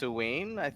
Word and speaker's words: Samhain: yeah I think some I think it's pronounced Samhain right or is it pronounced oween right so the the Halloween